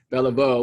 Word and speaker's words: Beliveau: remember name it's bella beau with an o kind of pronounced o for the baltimore orioles yes my husband would